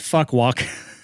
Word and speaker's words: Phu Quoc: I was in Phu Quoc, which is a small island in Vietnam. You can also pronounce it Fuck Walk, which I have many jokes with that.